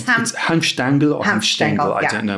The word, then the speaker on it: Hanfstaengl: One of the people whose account is exactly like that is a guy called Ernst Hanfstaengl, who was an American.